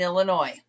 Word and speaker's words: Illinois: One of the things they said was when we went through the states, they would say there is no noise in Illinois.